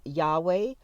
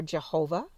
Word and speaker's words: Yahweh: everyone is familiar with is why HWH to to be pronounced Yahweh or Jehovah Jehovah is formed using